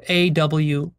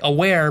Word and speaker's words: aware: Which brings us to the Japanese concept of mono no aware, or just aware for short, A-W-A-R-E. Like aware, but pronounced aware.